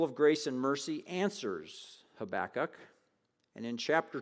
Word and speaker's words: Habakkuk: the book of habakkuk i didn't learn how to pronounce habakkuk until i was 24 years old i thought it was habakkuk but it's habakkuk it's only three chapters